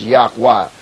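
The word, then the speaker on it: YHWH: using the proper names proper name is yhw pronounced yakwa we would not be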